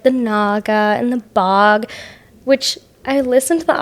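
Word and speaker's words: Bogge: Oh, I thought it was the Bog. I don't know. But usually I'm the one that pronounces things wrong, so. And I heard it as the Bog, and I was like, oh, okay. You thought it was bogey like golf?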